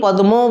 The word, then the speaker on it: পদ্ম: যেমন দেখো পদ্ম আমরা লিখি দয়ময়ে, কিন্তু আমরা উচ্চারণটি কি করি পদ্ম বলে, আমরা কিন্তু বলি পদ্ম, অর্থাৎ ছিল বানানেতে আছে দ যুক্ত ম, আমরা এইভাবে উচ্চারণ না করে বা জীব এভাবে উচ্চারণ না করে মটাকে দ করে দিল, তাহলে দেখা যাক এখানটাতে